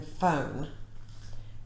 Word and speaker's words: phone: and then we have ph which is as in phone and then we have